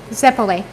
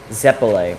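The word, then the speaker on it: zeppole: donna but mickey travels we always pronounce it zeply right or am i just saying it i mean they would know he always pronounced it zepply do you say what what do you say again zepalee zepalay we always said zepply i think it could be in either or richard what do you say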